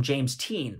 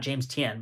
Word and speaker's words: James Tien: chen character who i frank jen calls him james teen which i would imagine frank knows how to pronounce it right because he is his native language um so james team uh or teen teen james t and not james tien but james teen i think is how frank was saying it